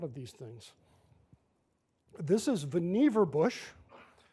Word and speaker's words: Vannevar: these things this is Vannevar bush he always said rhymes with beaver it's not Vannevar as boniva distinguished career as a